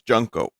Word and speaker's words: Junko: Now, I'm pretty sure I'm an expert on how to pronounce Japanese names. It's Junko.